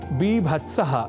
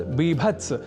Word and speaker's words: बीभत्स: रसा भावा पुन स्त्र अर्थात बीभत्स रस न की बीभत्स यह अवश्य ध्यान रखिएगा जहां जुगुप्सा या